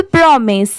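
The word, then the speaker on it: promise: बहुत सारे जगह पर इसे माइस भी प्रोनाउंस किया जाता है। बट यहां पर इसकी साउंड क्या है? मिस की है।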